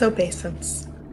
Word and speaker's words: obeisance: But It's obeisance.